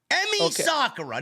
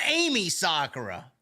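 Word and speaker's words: Emi Sakura: e Amy who you you pronounce it Emmy Emmy Sakura not Amy Sakura okay that's why I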